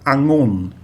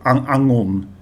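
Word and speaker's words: องุ่น: So the word is Angon, and we have a tone mark as well. So the tone of the second syllable, the initial consonant is low class, and the tone mark is the first tone mark, and a combination of a low class initial consonant and the first tone mark is a falling tone. So Angon. And as I've said many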